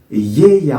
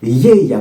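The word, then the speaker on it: Γαία: pour vous vous voyez c'est GAA yeya en fait comme ça se prononce en grec yeya vous entendez ce ye ye quelque chose qui qui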